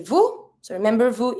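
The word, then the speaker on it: vous: end of the verb don't pronounce the S to say Vu so remember Vu it's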